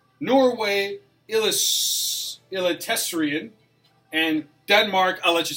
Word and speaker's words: Eliteserien: You were struggling this morning with that pronunciation. Sweden, Allsvenskan, Norway, Eliteserien, and Denmark.